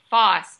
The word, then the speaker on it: Forss: It's Foss, Forss, but the R is silent.